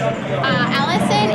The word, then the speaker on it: Alyson: Okay, give me your name and how you spell it. Allison, ALYSON.